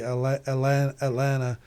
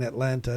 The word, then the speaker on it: Atlanta: I think the people that live here say Atlanta. I'm still putting the T. I'm still saying Atlanta. I need to learn to say it correctly.